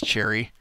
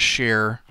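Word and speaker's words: Cherryh: uh uh Sher cherry I think it's Cherry I've been pronouncing it Sher um but I'm pretty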